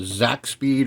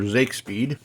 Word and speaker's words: Zakspeed: Now I got a few still photos of this engine, the Zakspeed or Zakespeed. I heard it pronounced Zak in this little documentary I watched on these cars, and